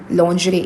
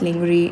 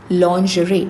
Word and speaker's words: lingerie: Lingerie. It's not lingry. No, that's incorrect. Lingerie. Lingerie. The pronun the sound which you use in the word vision. Vision. Okay. That's lingerie.